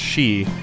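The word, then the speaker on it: sidhe: have seen it before it's spelled like s i d h e and that's pronounced she um and in uh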